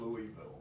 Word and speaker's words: Louisville: we're gonna have to show you how to say Down- Louisville.